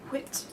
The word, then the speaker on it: wit: Wit. It's the word of the day. Wit. You need to say it like the Wix man on the advert. Wit.